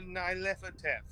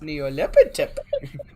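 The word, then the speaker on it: Nyarlathotep: knows anything about a Nylepotep? That's all. No, it's pronounced Neolepitep.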